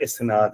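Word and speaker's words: إسناد: जैसे आप इस वर्ड है एक्चुअल वर्ड इस्नाद है हदीस के अंदर। लेकिन हम नॉर्मली इस्नत बोलते हैं क्योंकि इंग्लिश स्टाइल में लिखा हुआ है आई एस एन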